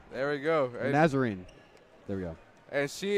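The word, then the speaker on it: Nazarene: uh BR you want to take a shot pronouncing that olivan nazarin there we go nazarine there we go and she is their leading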